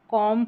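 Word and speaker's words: calm: कॉम पढ़ेंगे। कॉम यहां कॉम ब नहीं पढ़ेंगे क्योंकि लास्ट में ये जो बी है ना यह साइलेंट रहेगा।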